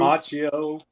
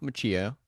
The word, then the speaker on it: Macchio: Macchio.